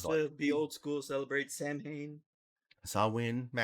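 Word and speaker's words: Samhain: seem he want to be old school celebrate Sam Hayne swin ma s that's pronounced sawin regardless of how it's spelled eat my ass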